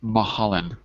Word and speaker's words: Mulholland: Ah, Anyway, the pronunciation is Mulholland.